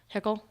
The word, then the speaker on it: Hickel: I always say that wrong. Hickel? Okay, see, I said it right.